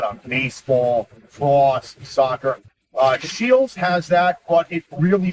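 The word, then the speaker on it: Scheels: have this place called shields uh basically it's spelled s c h like school and e e l s like eels shields and basically it's the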